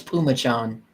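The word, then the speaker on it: Phommachanh: didn't look like salmicon python fomicon no it's pumachan Puma Chargers yeah yes he so he had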